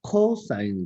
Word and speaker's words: cos: 때는 사인이라고 읽습니다 그다음에 코사인 이죠 앞에 코가 붙었죠 코가 코가 붙었어요 그죠 코인은 자 앞에 세 글자만 따서 cos고 적고 읽을 때 코사인 아고 읽 자 그다음에 탄젠트라인 있는데